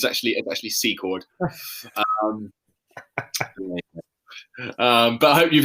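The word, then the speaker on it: Secord: character's surname the whole time uh i've been pronouncing it like record but it's actually actually c chord um but i hope you've enjoyed my pronunciations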